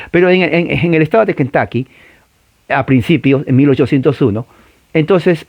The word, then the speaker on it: Kentucky: Chicken, se escribe Kentucky, la U en inglés no es U, se pronuncia una A pequeña, la A cultural, Kentucky, Kentucky.